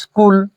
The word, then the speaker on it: স্কুল: প্রিয় শিক্ষার্থী, তাহলে স্কুলকে আমরা উচ্চারণ করার সময় স্কুল উচ্চারণ করি, মানে শব্দের আদিতে একটা বাড়তি ই উচ্চারণ করি, তার মানে শব্দের আদিতে